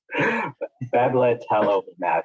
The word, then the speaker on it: Bebtelovimab: Bebtelovimab is how I think it is pronounced, but it is a monoclonal antibody that has emergency use authorization for COVID-19.